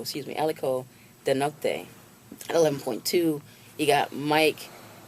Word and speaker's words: Aliko: be with a billion dollars we have Mr Akio oh aliko excuse me aliko denote 11.2 you got Mike adenuga excuse me